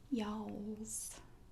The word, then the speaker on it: y'alls: You just learn to you just round your mouth a little bit and say y'alls.